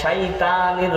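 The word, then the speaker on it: الشيطان: তাইলে শাইত শাইত অনেক ক্ষেত্রে সাধারণ মানুষ যারা উচ্চারণ সঠিক জানে না বলে আউজুবিল্লাহি মিনাশ শাইতানির রাজিম তাই না শয়তান পড়ে না এই পড়ে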